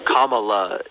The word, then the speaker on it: Kamala: and by the way it's kamla Harris well maybe I don't speak the same I don't pronounce my words the way you don't judge me on that well Kamala is is not difficult for you to say is it no neither is nachos